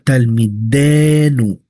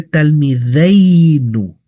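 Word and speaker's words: תלמידינו: Si yo lo conjugo, si yo lo construyo en shayahud, eh, ripui, cierto, en pertenencia masculino plural, sería talmidenu. Talm, no se dice talmideu.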